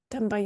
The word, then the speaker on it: também: Também as well, because the B is not always audible.